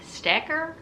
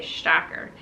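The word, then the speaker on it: Stäcker: Stecker? That's not how you pronounce it. It has the umlaut over the A, Stacker.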